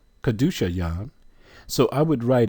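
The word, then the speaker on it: Qahdoosha: For example, Kadusha Yam or Kadusha, which means saint, Q-A-H-D-O-O-S-H-A, saint, Kadusha. You can spell it with 2 U's also. Still, it'll give you the exact same sound.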